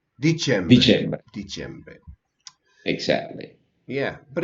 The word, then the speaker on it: dicembre: and Novembre, decembre. Dicembre.